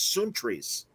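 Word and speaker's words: Sountres: spell it s-o-u-n-t-r-e-s because because uh the greek pronunciation is soon trees i don't know where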